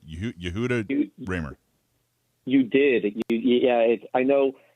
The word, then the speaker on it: Yehuda Remer: not first off get your name right you yahoo ramer you did yeah i know it's a hard name to pronounce i was on the show with uh